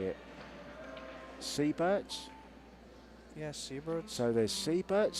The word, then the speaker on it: Seybert: Seybert's?